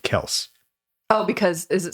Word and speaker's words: Kelce: But they were just talking to their dad, and he was like, yeah, it's Kels. Oh, wow. But they just went around going Kelsey, and they're like, yeah, whatever, it's fine.